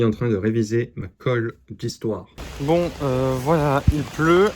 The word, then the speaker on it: khôlle: Alors, quand vous avez une colle, c'est-à-dire une colle, ça s'écrit K H O E. Mais attention, sur le haut, il y a un accent circonflexe.